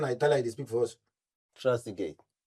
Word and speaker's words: Trezeguet: Trezeguet. Pronounce it again.